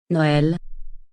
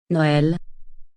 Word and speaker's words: Noël: They are used to give the vowel a separate pronunciation from the preceding vowel. Let's look at 2 examples. Repeat after Julie. Noël. Noël.